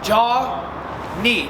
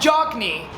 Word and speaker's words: Jonny: So Jonny, not Jock Knee, not Jock Knee. The K is silent, right?